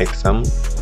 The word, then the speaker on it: XAMPP: Google Notepad++, kemudian Exam, ini bacanya Exam tapi tulisannya XAMPP.